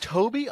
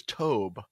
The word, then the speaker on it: Tobe: Is it Toby? I always thought it was Tobe. No. Because it's spelled Tobe.